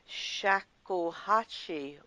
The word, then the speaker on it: shakuhachi: in the world of shakuhachi music. Shakuhachi, you've pronounced it absolutely correctly.